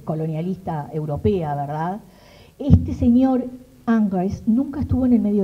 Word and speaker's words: Ingres: que se llama Ingres, porque me gusta decirle así como se escribe, pero es Angre, ¿no?, en francés, Jean-Dominique Ingres, que es un académico.